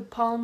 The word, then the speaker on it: palm: Okay, calm, palm, the palm of your hand, and almond, like the nut.